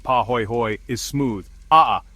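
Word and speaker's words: pāhoehoe: Paho ho ho pronounced paho hoy hoy is smooth.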